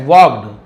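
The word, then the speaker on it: walked: वॉक्ड along Rocky path, वॉक्ड तो वॉल्कड नहीं बोलेंगे, एल साइलेंट, वॉक्ड यानी चले, अलोंग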